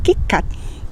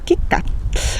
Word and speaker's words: KitKat: Por ejemplo, nosotros en español diremos WhatsApp, Facebook, McDonald's, Colgate, Palmolive, Cheetos o incluso KitKat, sin pronunciar la T final, KitKat, que es la chocolatina.